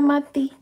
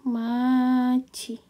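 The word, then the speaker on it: 맏이: Mat mati mati nah dia enggak bisa ya kita baca mati karena tadi dia D Ma I jadinya Maci jadi bacanya Maci Maci Oke demikian teman-teman untuk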